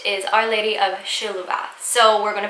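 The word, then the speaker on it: Šiluva: a lesser-known marian apparition called our lady of shaluva some people call it our lady of siluva and other people call it our lady of sheluva it's very confusing a lot of people pronounce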